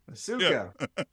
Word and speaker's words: Asuka: That we had been pronouncing Asuka incorrectly for about 20 weeks straight, and she'd really finally had it. Yeah, Asuka.